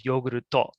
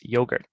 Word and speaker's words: yogurt: Cake or yogurt becomes yoguruto, and they're adding the to on the end of it. So it's yogurt.